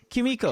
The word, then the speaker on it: Kimiko: Kimiko. Kimiko, Kimiko. That's how you Yes.